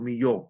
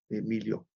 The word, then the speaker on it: Millau: más alto del mundo, Millau en Francia, o Millau, como se pronuncia, ¿no?